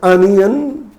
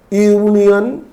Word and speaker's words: union: union made the union union is not pronounced as anion isn't it so it is pronounced as union union y o u